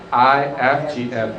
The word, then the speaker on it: IFGF: Kalau orang Indonesia bilangnya IFGF. Kalau kita yang benar pronunciasinya IFGF ya. Jadi kalau saudara ketemu dari saudara semua dari IFGF lain jangan salah pronunciasinya gitu.